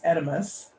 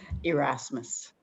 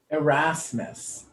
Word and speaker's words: Erasmus: Now, I've never said her name out loud, but it's Edimus, correct? No, I didn't say it right. Okay. How do I say it, my love? Erasmus. Erasmus.